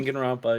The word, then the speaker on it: Danganronpa: Danganronpa. I'm saying it wrong. I know. No, that's exactly you said. You okay. Danganronpa.